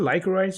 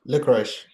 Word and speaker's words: licorice: Is it lyic rice or lyser rice? Licorice.